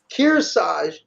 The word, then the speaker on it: Kearsarge: How do you pronounce that name in New Hampshire? Kearsarge? Kearsarge.